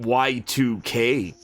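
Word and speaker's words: YIIK: Well, ye is actually it's actually pronounced Y2K. Like the Roman numeral 2. Y Roman numeral 2K. That's how you're supposed to. Everybody calls it yeek cuz that's what it's called.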